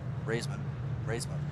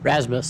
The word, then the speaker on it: Rasmus: Number 1 of, I believe that's a new driver, Raisman. How do you say that? Rasmus. David? Rasmus. Okay. Great. Rasmus.